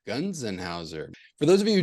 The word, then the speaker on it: Gonsenhauser: Gonsenhauser. Gonsenhauser.